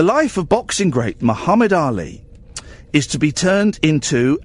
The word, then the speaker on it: Ali: not Ali Bongo Muhammad Ali no but it's not Ali it's Ali Ali Muhammad Ali the